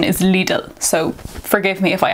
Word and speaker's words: Lidl: lidl little little sorry where i'm from we pronounce it as little but i know that the correct pronunciation is legal so forgive me if i accidentally say little